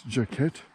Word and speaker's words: Jacquet: are again River Campground which I've been mispronouncing as jacket figure with all the French influence in this part of New Brunswick but nope jacket jacket River I'm gonna get a